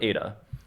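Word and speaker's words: ήτα: so completely different a this is not make an H sound I know that both of these look like an H it makes an e so they have two e they have two e that sound exactly the same Epsilon and Ada and they also have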